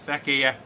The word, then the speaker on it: Fekir: We've also got, Fekir, that's how you pronounce his name. I was going to say Fekir, it's Fekir.